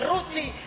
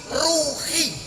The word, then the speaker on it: Ruci: Dewa Ruci itu tulisannya RUCHI, berarti santri membacanya bukan Ruci tapi Ruhi.